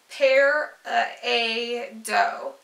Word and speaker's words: peridot: how you say it most Gem and Jewelry tradesmen use pear a doe and some are very definite and calling the dot form as incorrect that makes no sense